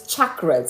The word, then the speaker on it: chakras: So, yesterday I was pronouncing it more like chakras, but it's chakras.